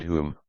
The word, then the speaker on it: hum: This species is here, in all this country pronounced as the English word hum, also huma.